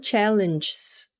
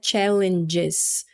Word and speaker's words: challenges: Então, quando a gente fala challenges, a gente fala o E, challenges. Qual que é o erro comum aqui? É comum que eu escute a pessoa falando challenges, challenges.